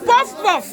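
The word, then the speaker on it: puff-puff: get the pronunciation right, you must do your mouth like this. Puff, puff. Yes. Puff, puff. No, that one is a posh one. Pronunciation depends on your accent. If you have an accent, it doesn't matter. Puff, puff. Puff, puff is African origin.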